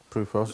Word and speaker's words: PRUFOS: So I'm with Gary Heseltine, who initiated the is it pronounced PRUFOS? PRUFOS.